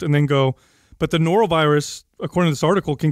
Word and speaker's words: Norovirus: Norovirus.